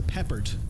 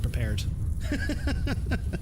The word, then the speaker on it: Peppard: I mispronounced your name it was Mr Peppard not Mr prepared forgive me my activity